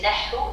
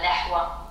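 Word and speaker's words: نحو: Pourquoi est-ce que c'est nahu et pas nahwa? Exactement. C'est parce qu'il y a le soukoun qui fait que il n'y a pas le son waouh à la fin?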